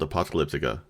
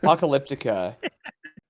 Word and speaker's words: Apocalyptica: Apocalyptica, I guess, is not really how they say it. I had heard an interview where they were talking, and they kept calling it Apocalyptica, what? and it completely changed the way that I looked at words and the sounds that things make. But yeah, they were like Apocalyptica, and I'm like, who the hell's that? You mean Apocalyptica? Sorry, you're saying it wrong.